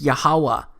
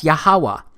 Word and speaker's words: Yahuwah: H it's pronounced as yahuwah because it turns out that the language was so simple back then that it vocalized each consonant with an AA sound without specifically marking that sound between consonants so this yhw H